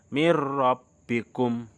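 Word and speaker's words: من ربكم: Jadi bacanya mir rabbikum, padahal tulisannya min rabbikum, tetapi bacanya mir rabbikum tanpa mendengung karena ini bacaan idgham bila gunnah.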